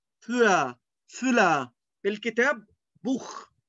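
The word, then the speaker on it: Buch: الكتاب بوخ، اللي تسي ها هنا بتتنطق زي الخه بتاعت العربي كده، بوخ، بوخ.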